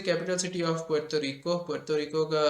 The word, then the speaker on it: Puerto Rico: which is the capital city of Puerto Rico Puerto Rico this is the proper pronunciation country actually in the Caribbean I think